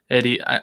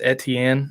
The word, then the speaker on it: Etienne: It says, Robinson may prevent Eddie. I'm thinking it's Etienne is how that's pronounced.